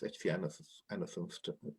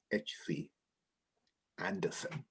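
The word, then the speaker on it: H. C. Andersen: on the tinder box hcness anderson hd i'm sorry i've been in denmark so long i'm pronouncing it the danish way it's not danish it's amazing but of course in english it's hc anderson the soldier home from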